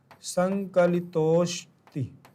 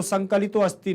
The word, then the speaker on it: संकलितोस्ति: जैसे आप पढ़ते हैं संकलितो प्लस संकलितो अस्ति, तो संकलितो अस्ति नहीं होगा, संकलितोस्ति। क्या पढ़ेंगे, संकलितोस्ति।